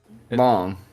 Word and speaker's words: Long: It's like Lang. I think it's long. It's long, yeah.